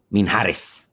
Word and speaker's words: Minjares: And then we have Adam Minjares.